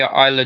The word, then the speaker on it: Isla: mckenzie zaya brookside and isla dawn yes is silent oh okay history